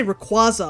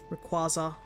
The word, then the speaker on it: Rayquaza: Pronunciation used uh to do just makes me think of squash because of how the qua is pronounced. Rayquaza Rayquaza.